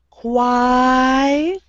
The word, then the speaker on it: choir: We don't pronounce the O.